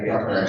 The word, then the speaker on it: Definis: Item 4, presentation by guest speaker Dean Definis. I say that. Definis, sorry. Gotta give it the French pronunciation, regarding Hope Not Handcuffs program, right?